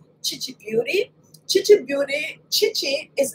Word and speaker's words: Khichi: like my immediate family they will definitely call me Gigi some people think that it is catchy but it's really chichi I couldn't see so